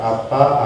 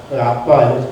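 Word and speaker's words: אבא: 아빠, 우리 한국어 아빠 생각하시면 안 되고 그냥 그 히브리어인데 아빠, 헬라어인데 아빠, 발음이 같을 뿐입니다.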